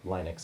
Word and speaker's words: Linux: Not only do we do commentary tracks for Star Trek, but we also both use Linux. Or Linux, if you pronounce it that way.